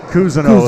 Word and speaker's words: Cousineau: Cousineau is how they pronounce it.